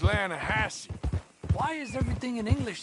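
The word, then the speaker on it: Lannahechee: the right here I rode down to the Atlanta Hatchi River I caught some View beautiful steelhead drought you made an Atlanta Hassey River no no no no no no no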